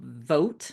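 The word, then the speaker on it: Vought: specifically for this wacko Russell vote is how you say the name it's v u g HT um he was up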